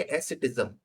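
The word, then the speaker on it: asceticism: तो इसको हम प्रोनाउंस कैसे करेंगे, एसेटिज्म, एसेटिज्म।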